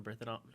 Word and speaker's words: Bernthal: So you just, because of fate, John Bernthal, how do you say his last name? Bernthal. Bernthal, Yes. the Punisher himself.